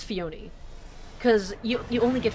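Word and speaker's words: Phione: Like for example, uh Fiona. No, not Fion. No, no, is it? No, no, it is Fiona. cuz you you only get Fiona from hat from breeding mane and Fiona sucks.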